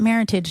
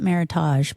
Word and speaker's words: meritage: use the word meritage, which looks like heritage, but with an M, and they pronounce it meritage, not meritage, but not?